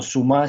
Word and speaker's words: Zouma: Kurzuma, o Suma, si lo pronunciamos en francés, le ha sacado 30